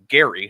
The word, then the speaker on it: Gerry: In fact, it's named after like an early Massachusetts governor named Elbridge Gerry, hard G.